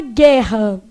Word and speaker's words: guerra: Bom, na palavra guerra, tem dígrafo? O GU é pronunciado U aqui? Você fala gué? Não.